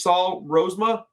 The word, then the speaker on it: Rozema: today I got a special guest this is Saul rosema I pronounced that correctly did I that's right excellent